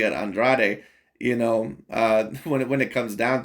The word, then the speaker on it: Andrade: that is the correct way to say it Andrade you know uh when when it comes down